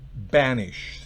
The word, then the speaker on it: banish: En el primer caso, banish, tenemos una B bilabial, banish, se pronuncia con la B, los labios bloqueados enteramente.